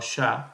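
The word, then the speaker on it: ṣà: Ahora, Sa, pronunciado Sha en dialecto onco, se refiere como elegir, seleccionar, ¿ok?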